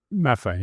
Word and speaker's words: Maffei: Am I saying it right, Joe? Maffei, yeah. Maffei, yeah, is leaving and is going to have a stand-in.